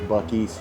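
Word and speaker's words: Buc-ee's: This is Bies. I hear so many people pronouncing it busies or abusies.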